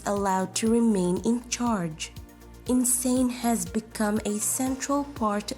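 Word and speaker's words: Insein: Perhaps fittingly, its name is pronounced Insane.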